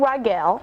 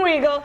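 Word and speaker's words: Riegel: That's changing this Wednesday when All My Children stars Eating Rigel. Did I say it right? It's Regal. Regal.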